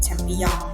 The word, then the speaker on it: แชมปิญอง: แรก ก็ คือ หิน แชมปิญอง ค่ะ ไม่ ได้ อ่าน ว่า แชมปินส์ นะ คะ ถาม ว่า แชมป์ บียอน